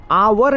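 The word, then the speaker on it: hour: लेकिन साउंड जो निकलता है इसमें आवर निकलता है। जो साउंड आता है इसमें क्या आता है? आवर। एच क्या है? साइलेंट। जो एच है वो क्या रहेगा? साइलेंट रहता है।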